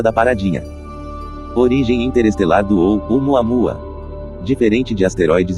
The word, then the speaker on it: ʻOumuamua: Aquele sinalzinho acima do oquina não é uma vírgula nem um enfeite. Ele marca uma pausa rápida na garganta. Então em havaiano, o correto é pronunciar algo como ou o Muamua. Essa breve pausa é o som da pausa glotal do Oquina.